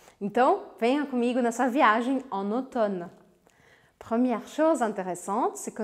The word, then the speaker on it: automne: août au prince en automne première chose intéressante c'est que nous écrivons ottomane mais nous nous prononçons automne on sait maintenant que